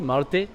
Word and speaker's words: Marte: My pronunciation is okay, Marte?